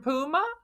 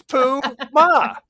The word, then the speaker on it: Puma: Puma. He was Pooh Ma is what they called.